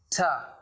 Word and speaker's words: to: And however, if we move to its pronunciation, it's usually pronounced as ta, not to.